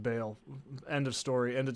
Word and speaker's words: Baal: Why I ought to it's pronounced Baal.